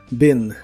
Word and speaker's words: been: pasado participio es Ben se pronuncia con la i corta Ben Ben y equivale a